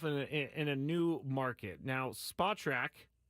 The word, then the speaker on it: Spotrac: Now, Spotrac, Spotrac, yes, it's pronounced that. Some guy told me that one time who worked for them. But he is if you